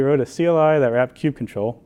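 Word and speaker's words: kubectl: a CLI that wrapped Q control which is the proper pronunciation of Q control by the way you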